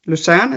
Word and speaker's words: Lucerne: Lucerne, is that pronounced correctly?